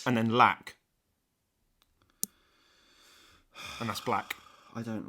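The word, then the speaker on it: 6LACK: name of black and it's spelled six black that's pronounced black what so let me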